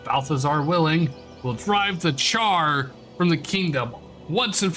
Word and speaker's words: Charr: But Balthazar willing, will drive the Char from the kingdom once and for all. The thing is Char is actually spelled with 2 R's.